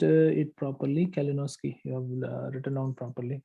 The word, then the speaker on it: Kalinowski: And you have pronounced it properly, Kalinowski.